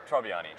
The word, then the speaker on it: Tribbiani: G'day guys, Brad from D1 DLC here at AVCon 2016 with Tribbiani. Yep. Did I say it right? No, a little bit wrong. How do I say it? Tribbiani. Tribbiani, I thought so.